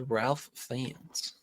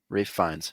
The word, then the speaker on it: Ralph Fiennes: Rafe It was Ralph Fiennes. Fiennes. Just like pull this up. Ray Fiennes. Ray Fiennes, yeah. But it's spelled Ralph. Rafe. Yeah, I know. That's why I got it wrong. Oh. Rafe Fiennes.